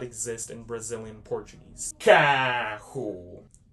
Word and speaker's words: carro: Carro. Carro, which is with the hard C. You can pronounce it like a K sound.